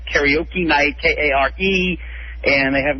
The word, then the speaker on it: karaoke: There's also another misspelling, mispronunciation of a word. It's called, what most people say, karaoke, and it's not karaoke. It's karaoke.